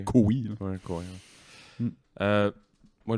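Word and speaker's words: Koe: Comme on parlait de David Cowie il y a 2 secondes, le K-O-E, son nom, je savais pas que ça se prononçait Cowie.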